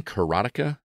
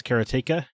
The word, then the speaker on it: Karateka: to pronounce it uh Jordan mechner I think says keratea but uh he he is that that's not even proper anyway because it's Bas